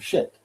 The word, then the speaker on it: scit: Fidem shit means she keeps the faith? Yeah, it's SCIT, but in Latin that's pronounced shit.